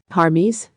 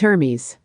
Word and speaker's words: Hermes: that's a funny name harmes one of them asked no no it's Hermes not har but her it sounds weird when you say it like that harmes I told you it's not her Hermes while the innocent children